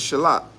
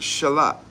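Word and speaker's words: שלח: The word there for sin is a very, very common word in Hebrew, which is, you guys already know, it's what is shalak.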